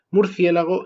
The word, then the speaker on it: murciélago: las innovaciones tienen éxito os pongo un ejemplo murciélago es la forma innovadora la etimológicamente correcta es murciégalo pero hoy en día esta es la socialmente marcada la mal vista la que no tiene prestigio y eso es porque la innovación tuvo éxito se extendió y es la socialmente aceptada hoy en día yo